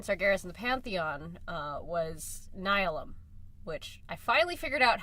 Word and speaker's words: Nihilum: The next confrontation between Sargeras and the Pantheon was Nihilum, which I finally figured out how to pronounce that because it's like the word, like, nihilism or like annihilation.